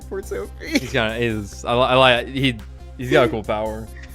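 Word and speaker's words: Kortopi: It's like one syllable, right? No, Or is it like 5? it's 3. Kura Peak. Oh! Kilowatt. Cortopi.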